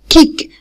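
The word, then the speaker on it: kick: يبقى كيك، كيك. هناخد بالنا ان السي كي هنا هنطقها ك ساوند، ك ك، كانها صوت واحد، صوت الكاف.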